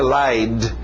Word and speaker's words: lied: Passado regular, ed, mas som só de um d, lied.